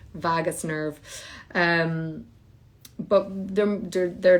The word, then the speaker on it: vagus: directional pathway along your vargas nerve by the way um and i have it's not even vargas i looked it up and then i said it wrong anyway vagus nerve um but they're